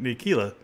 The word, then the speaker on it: Ntilikina: Now the Knicks, Frank Ntilikina, I think that's how you say it, Ntilikina, he's been out.